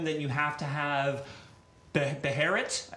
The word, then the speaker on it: Beherit: If you add them, then you have to have Beherit. Is it pronounced Beherit? It is, I got that yeah.